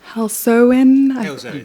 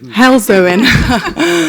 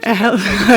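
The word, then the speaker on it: Halesowen: Alex is a Labour party politician and member of parliament for Helsen. Hellzoen. Not Helzo. Okay, I always pronounce this wrong, Alex.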